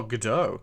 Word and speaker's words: Godot: It is Godot. Oh, okay. I was gonna say, because that's the name. That like this Gal Gadot is Wonder Woman, isn't she? And so I pronounce it that way, just because, yeah.